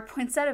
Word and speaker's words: poinsettia: Like I will admit, our region pronounces it poinsettia instead of say poinsettia, which is I think proper.